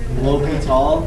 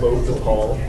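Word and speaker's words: L'Hôpital: I can't even pronounce that. You did great. Do it again. L'Hopital. Perfect. L'Hopital.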